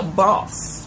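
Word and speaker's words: Bawse: The next book I read was How to Be a Boss by Nalini Singh. And now I'm saying it like that because you see how it's spelled, B-A-W-S-E.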